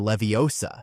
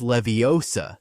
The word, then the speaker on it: Leviosa: where they're learning Windardium Leviosa. The famous line, "It's Leviosa, not Leviosa," doesn't happen in the books.